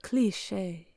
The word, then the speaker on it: cliché: I did like do a pronunciation lookup thing of like a French person saying it, and the end is a little more subtle. Like it was like cliche, like something like, I don't remember. It was like a little less severe and harsh than cliche, but still they did say that the second syllable should be stressed, and I feel like